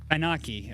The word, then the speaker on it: Ananke: Anaki, I think it's pronounced. Anonke? Because there's two N's where Ananke. Ananke.